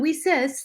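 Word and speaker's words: WiCyS: is spelled w-i-c-y-s and we pronounce it we sis like we sisters because that's exactly what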